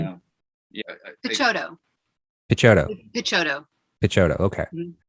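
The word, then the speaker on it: Picciotto: I don't know how to pronounce his name. Pizzicato. No, I know it's Guy, but it's a Pizzicato, his Oh, I last don't name? know. Yeah, Pichotto.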